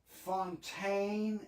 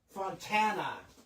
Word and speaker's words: Fontana: I checked the return address and this guitar came from Fontaine. Is that how you pronounce it? Fontaine, California. Fontana, California.